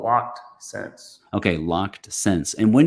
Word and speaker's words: Loc'd Scents: so do you say uh is it so pronounce the name of your channel for us uh it's called locked sense okay locked sense and when did you start